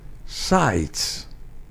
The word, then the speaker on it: Seitz: se debe de pronunciar, porque un apellido alemán, Seitz. Suena distinto, ¿verdad? Seitz. Ese es el nombre, si queremos cautivar a alguien que tiene un apellido alemán, entonces que se pronuncie como suena originalmente el apellido, Seitz.